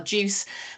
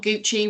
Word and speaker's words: GUCE: We are Juice. We're not Gucci. We are not that posh. So it's like orange juice. Everyone says soft G and soft C.